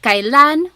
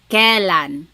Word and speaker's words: kalan: Then the word kalan when you might hear some people say kalan sounds like an e but it's technically spelled with an ai.